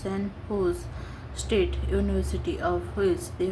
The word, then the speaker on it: San Jose: Recently, the San Jose, pronounced San Jose State University, of which they were former students, honored them and installed the statue in the university campus.